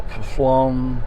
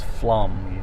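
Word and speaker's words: Pflumm: at it and go phloem what plum how do you say that pufflom now it's flum the p is silent and it's also i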